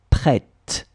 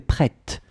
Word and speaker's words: prête: Okay, and for the feminine form, it would be tu es prête. Okay, so at the end, you just add this t. Okay, pronunciation of the t. Okay, tu es prêt, masculin. Tu es prête, féminin.